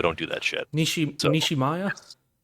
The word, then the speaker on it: Nishimiya: So Nishimaya? yes, Nishimiya. Nishimiya. Excuse me. I Yep. don't speak Japanese, so I'm not good at pronouncing last names.